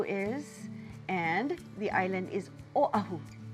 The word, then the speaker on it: Oʻahu: and the island is Oahu don't forget that okina there's no W there so it doesn't sound like Oahu it's in the back of your throat after Oahu we go